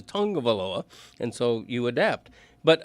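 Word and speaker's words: Tagovailoa: I mean, I I probably went the first year after he was drafted saying tagaloa, you know, event but eventually you learn that the way he pronounces it in the Samoan culture is tongue of Aaloa.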